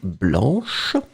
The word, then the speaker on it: blanc: have the feminine form blanche. So remember, masculine form blanc, B-L-A-N-C, you don't pronounce the final C.